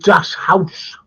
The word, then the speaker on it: Das Haus: Anyway, I want to talk about Das Haus. Have I pronounced that right, JK? Stimmt. Genau, yeah, that's right, Brett.